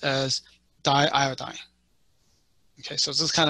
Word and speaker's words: diiodine: with it but if you learn chemistry it's pronounced as diiodine okay so this is kind of a test